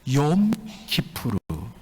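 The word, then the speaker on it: יום כיפור: 여러분, 이 말씀은 배경이 대속죄일, 유대달력으로 7월 10일 대속죄일 욤 키푸르, 이것을 영어식으로 발음해서 욤 키펄이라고 이야기하죠.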